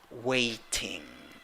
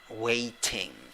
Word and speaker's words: waiting: does it sound a waiting waiting but because of t because of the fact that t is between two vowels and the first vowel is stressed you can pronounce t as r but like this waiting